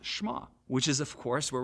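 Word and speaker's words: Shema: to hear or listen which in Hebrew is pronounced schma which is of course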